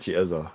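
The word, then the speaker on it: Eze: No, he he pronounces it eza.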